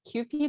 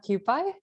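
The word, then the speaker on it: Kewpie: i love that yes so if it's actually pronounced as qp not cupid oh yes i think i think it's a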